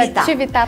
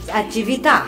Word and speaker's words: Atività: E como funciona o Estúdio Atività? É assim que pronuncia? Isso, Estúdio Atività Pilates. É italiano, Atività.